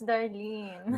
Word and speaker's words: Darlene: evening Marlene and Cooper who's Marley it's Darlene Darlene d-a-r-l-e-n that's that's it that's how you spell it only one letter